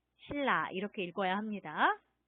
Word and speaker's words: 신라: 네, 신라 이렇게 쓰는데 여기도 지금 보면 니은 소리하고 리을 소리가 만났죠? 네, 발음이 어떻게 돼요? 그렇습니다. 이것은 네, 이렇게 읽어야 해요. 신라, 신라 이렇게 읽어야 합니다.